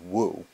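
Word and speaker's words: 武: be about the literal translation of this it's pronounced woo and not just because I'm a really big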